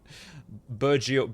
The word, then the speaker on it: bourgeois: I can't pronounce the word. Protecting the word. Fuck off. Bourgeois.